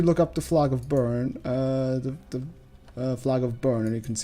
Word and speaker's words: Bern: No, the capital of Switzerland is Bern. Bern. Okay. Yeah, it's not literally burning. It's just well, it's spelled B-E-R-N, and Gotcha.